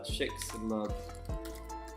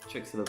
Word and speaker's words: Chicxulub: of my branding, but what's it called, the Chicxulub crater. I need to learn to spell it as well.